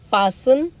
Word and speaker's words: fasten: Again, castle, Christmas, fasten, listen, often, whistle, bustle, hasten, soften, rapo, gourmet, ballet. Okay, now silent U.